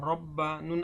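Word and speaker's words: رَبَّنَا: এখানেও একইভাবে তাসদীদের প্রাধান্য পেয়েছে, জজমের পরে যেহেতু তাসদীদ আসছে, জজমটা এখানে আসবে না উচ্চারণে। এখানে মধ্যে ওয়াজ, র বা জবর রব, বা জবর বা, রব্বা, নুন আলিফ জবর না, রব্বানা।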